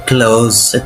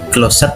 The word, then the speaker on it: closed: Itu bentuk dua dan tiganya adalah closed. Itu bukan closet bacanya tapi closed. Untuk cara bacanya sendiri mm seperti qalqalah ya seperti itu. Closed. ada ledakan kecil di situ.